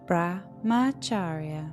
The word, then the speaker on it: Brahmacharya: And then the next one is, and people can pronounce this word very differently. So you can hear Brahmacharya or Brahmacharya, and you can hear it in so many different ways, but it's Brahmacharya.